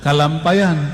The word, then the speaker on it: Kalampayan: Inilah yang diajarkan oleh dulu Datuk Kalampayan, ya, benar bacanya gitu, Syekh Maulana Muhammad Arsyad Al-Banjari.